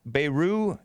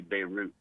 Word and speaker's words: Beirut: yeah yeah beirut ex beiru is it beiru or beirut i think you pronounce the t beirut you do pronounce the